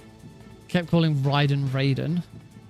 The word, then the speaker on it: Raiden: Like, how many how many times has he heard the name pronounced Ryden, but still thinks that it's supposed to be Raiden?